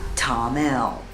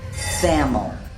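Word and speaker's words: Thamel: please don't call it sam'l we went to see Tom L to find some trekking supply stores just remember th am e l is pronounced Tom them they don't pronounce the th for most workers in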